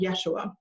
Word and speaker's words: Yeshua: was Aramaic and so that pronunciation in Aramaic is called Yeshua so Yeshua taught his disciples first